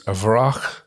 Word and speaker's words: Wraak: is the name and artist the artist is avrah which is pronounced which is spelt w-r-a-a-k which is a